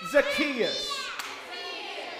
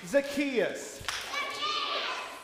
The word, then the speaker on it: Zacchaeus: Too Short his name was Zacchaeus everybody say Zacchaeus you got to say it correctly Zacchaeus he was a weeable man and he took